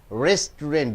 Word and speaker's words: restaurant: you pronounce it as restaurant being and now you have to stress on the first syllable restaurant hotel or a